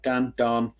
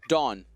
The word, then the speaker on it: Daan: Daan. We'll call him Dan. Dawn, like the night is darkest before the dawn. Like Concord Dawn.